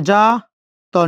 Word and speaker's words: যাত্রী: আবার বলে দিচ্ছি, এই জ থাকলে বর্গীয় জ উচ্চারণ করতে হয়। তাহলে জ একারে যা, তর নিচে হস।